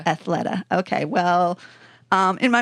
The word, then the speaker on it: Athleta: can pronounce it right I was calling it Athleta all this time but it's athletica Athleta yeah I think it's I'm pretty sure Athleta okay well um in